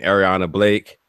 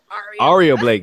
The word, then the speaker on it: Aria Blake: I mean, you've wrestled another Clearwater native and Ariana Blake. Ariana Blake. Aria Blake, yes. I keep saying say it like the hotel, and I just keep forgetting.